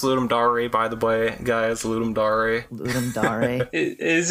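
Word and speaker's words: Ludum Dare: for completely ignoring the thing from there it's pronounced ludum dary by the way guys is it are you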